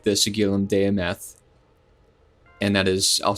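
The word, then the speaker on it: Sigillum Dei Aemeth: So this invocation is used ritually often with tools like the sigilum demth. And that is I'll spell that for you guys.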